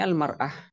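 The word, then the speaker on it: المرأة: Di sini almarah biduni al bacanya imraah. Kalau pakai al bacanya almara kalau tanpa al imraah.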